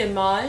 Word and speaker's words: IMAJ: say my name actually IM okay well how would you how do you pronounce it's actually image image yeah see I but